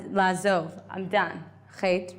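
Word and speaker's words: חטא: Chet, right? Do we write what chet means? Did I write the word chet? I wrote it yesterday, right? Ches, tes, aleph. The aleph is silent.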